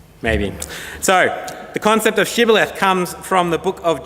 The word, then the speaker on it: Shibboleth: they said to him then say Shibboleth and he said Sibyl ahthe for he could not pronounce it right then they seized him